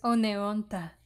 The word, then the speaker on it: Oneonta: No es tan difícil de pronunciar. Es Oneonta.